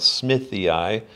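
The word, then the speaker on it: smithii: is called Smith ey when you see a Latin name with two eyes that's how you pronounce it EI EI so if I was ey that's be two eyes after my name right um and radiata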